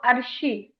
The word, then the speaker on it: Arshi: what is the right pronunciation of your name? Arshi. No, Arshi.